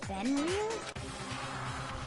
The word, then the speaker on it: Fenrir: Fenrir? Fenrir. So I was saying it right.